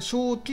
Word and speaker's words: 石菖: ですねただあのこれ正気って読むんですが正気鼻血症